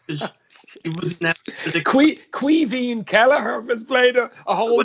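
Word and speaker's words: Caoimhín: So it's Queeveen, so it's Kwee. It's pronounced it this way, Queeveen, Veen, Queeveen. It's actually Kevin, but it's Queeveen.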